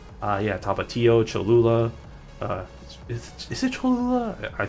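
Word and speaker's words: Tapatío: There was the other one, Tapatio. Yeah, Tapatio, Cholula. Is it Cholula? I feel like I'm pronouncing that wrong.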